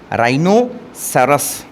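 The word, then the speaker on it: rhinoceros: word आपने पढ़ा है आर एच आई एओ सीई आर राइनो सरस इसमें जो एच आ रहा है ना यह आपका साइलेंट है दूसरा वर्ड आप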